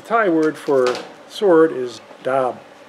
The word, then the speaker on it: darb: However, it's not pronounced DARB. There's no R in the original word. In fact, it's not pronounced DAB. It's actually more like DAB.